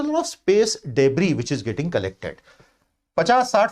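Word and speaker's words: debris: दुनिया भर के वैज्ञानिक और सरकारें अब बहुत डर गए कि ये जो डेब्री है, डेब्री बोलते हैं, इसका प्रोनाउंसिएशन डेब्रिस नहीं होता, डेब्री, कचरा, मतलब अंतरिक्ष कचरा,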